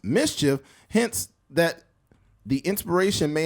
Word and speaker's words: MSCHF: While MSCHF pronounced mischief, hints that the inspiration may have come from the Dora the Explorer sidekick boots.